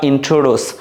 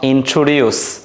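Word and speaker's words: introduce: উচ্চারণ শিখিয়ে দিচ্ছি তোমাদেরকে এটাকে বলবা ইন্ট্রোডস নট ইন্ট্রোডিউস তাইলে এটা কি হবে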